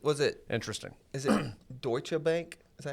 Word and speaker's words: Deutsche: Is it Deutsche Bank?